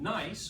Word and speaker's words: gneiss: have slate shist and then nice which is spelled bunny G NE I SS as the highest amount